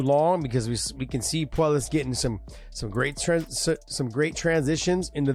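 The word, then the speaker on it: Puelles: Puellas.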